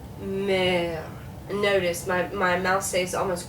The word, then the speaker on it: mère: So in the word mère, okay? So notice here you have two different E's. Now this E is silent, no accent mark. This is an accent grave, and it's going to make it sound like it's going down a little bit. So, mer.